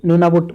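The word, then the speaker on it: Nunavut: तो ये नूनाबुट का जिक्र मैंने किया था, लेकिन न को मैंने साइलेंट आपको बताया। न साइलेंट नहीं है।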